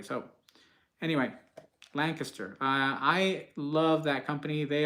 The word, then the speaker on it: Lancaster: I used to say Lancaster, but somebody corrected me. They're like, that's not how we pronounce it here. The natives here in Lancaster, Pennsylvania, they don't pronounce it that way.